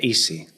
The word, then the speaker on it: ESEA: ¿Cómo nosotros le llamamos Easy Propulsion, pero en inglés se pronuncia Easy.